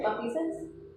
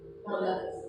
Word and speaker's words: maleficence: Oh, is it malfeasance? No, not malfeasance. Maleficence.